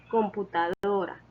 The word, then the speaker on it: computadora: Y en la palabra maletín, la sílaba tónica es tin. Es una palabra aguda, ya que la mayor fuerza de voz o su sílaba tónica es la última sílaba. Y está tildada porque cumple con las reglas de acentuación. En cambio, la palabra computadora es una palabra grave porque su sílaba tónica es la penúltima sílaba.